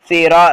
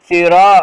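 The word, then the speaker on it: صراط: சிராத்தல்லதீன சிரா ரா பக்கத்துல அலிஃப் வந்தா கொஞ்சம் இழுக்கணும் ஓகேங்களா. சிராத்தல்லதீன சொல்லுங்க, சிரா அதாவது சிரா அது மேல பிரிண்டிங் மிஸ்டேக் விட்டு விட்டு போயிடுச்சு நான் எப்படி வாசிக்கிறேன் ராவுடைய ஆவுடைய உச்சரிப்பு போடணுங்க ஓகேங்களா.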